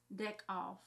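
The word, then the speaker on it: Deckoff: pH Steven with ph deck off like deck and off it just said found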